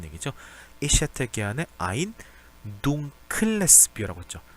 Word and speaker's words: dunkles: Ich hätte gerne ein dunkles Bier라고 했죠. dunkeles라고 하지 않았습니다.